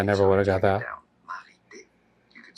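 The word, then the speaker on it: Marithé: Marité. You could say Marité. TH is pronounced like a T in French. The H is silent.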